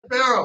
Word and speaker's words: Farrell: Say it like Farrell.